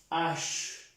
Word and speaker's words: h: Como si la pronunciáramos en el español así, sin la E. Ash. ¿De acuerdo? No H, sino ash. Pronunciando bien la Ch. Esta C con la H, que suena Ch.